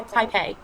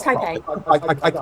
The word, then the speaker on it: Taipei: Can you say it right? I have to tell you, it's Taipei. Taipei. It's Taipei. I got it. Taipei, not hard.